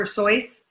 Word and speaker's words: Seuss: sois yeah dr. Seuss I mean it still spelled the same right way it's just dr. soy sin it rhymes with voice so anyway enough of